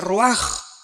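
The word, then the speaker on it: רוח: rach con r de raul a H se pronuncia ro por ejemplo cuando hablamos del Espíritu Santo El Espíritu Santo es ro el kados el Espíritu Santo kabos es Santo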